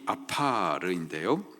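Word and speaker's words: עָפָר: 땅의 티끌, 이 땅의 티끌, 그 원어적인 발음이 아파르인데요, 마른 땅에서 날리는 흙먼지를 말하는 겁니다.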